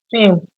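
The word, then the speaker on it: SIEM: So, on the tools and technologies, we have something called SIM. Pronounce it. Same. SIM, yes. And it stands for Security Information and Event Management.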